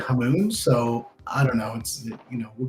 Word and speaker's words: Hamoen: Hey, It's a Dutch last name and it's like Moen, like the faucet, but I've always said Hamoon.